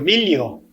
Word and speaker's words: miglio: Nel veder il miglio, aqui é o milho, a pronúncia é milho, né? Mas a escrita é miglio.